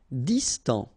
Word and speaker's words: Distant: Distant. Final T not pronounced.